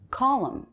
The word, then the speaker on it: column: stand or music stand column this word has a silent n at the end smiling formal musical coordinated